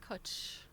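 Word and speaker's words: cwtch: Pronounced kuch. Kuch. It's in cook. Kuch.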